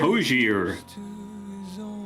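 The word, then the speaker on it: Hozier: Hosier.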